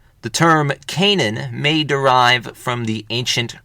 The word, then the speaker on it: Canaan: the Canaanites, and their land was called Canaan, sometimes pronounced Canaan.